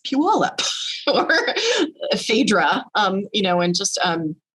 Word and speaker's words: Puyallup: And then when he read it, I was like, oh, it's not Puyallup, it's Puyallup or Phaedra, and just